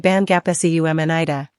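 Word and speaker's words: 반갑습니다: Similar to the b/p in changes to an m sound when followed by sup in this context, making it bangapseumnida.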